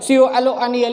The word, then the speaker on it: colonel: इसी प्रकार का एक शब्द है कर्नल, जिसमें रॉ का उच्चारण ऐसा सुनने से प्रतीत होता है कि इसमें आर होगा, लेकिन उसमें आर होता नहीं है। COLONEL, इस प्रकार से उन्हें संबोधित कहते हैं।